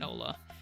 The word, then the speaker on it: hola: You've been in a Spanish-speaking country for 12 years, and you still sometimes pronounce the H in Ola.